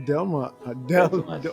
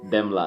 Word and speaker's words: Demla: And what an amazing journey that was in the making of Delma. I keep saying it the wrong way. Demla. How do you say it? Demla. The way it's pronounced, the way it's written, Demla.